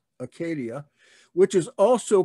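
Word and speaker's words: acedia: you the demon of acadia and that's how that is pronounced in greek acadia which is also called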